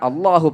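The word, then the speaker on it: الله: പുറത്തിട്ട് അള്ളാ എന്ന് പറയും ചില ആളുകൾ മുൻപല്ലിന്റെ ഉള്ളിൽ തട്ടിച്ചു പറയും ചില ആളുകൾ മുൻപല്ലിൽ തട്ടാതെ ലാം പറയുന്ന സ്ഥലത്ത് വെച്ച് പറയും ഇതിൽ ശരിയായ ഉച്ചാരണം ലാം പറയുന്ന ഇല്ല പറയുന്ന അതേ സ്ഥലത്ത് വെച്ചാണ് അള്ളാഹു പറയേണ്ടത് നാവിൻറെ തലയുടെ ഒരു മേലെ മുൻപല്ലിന്റെ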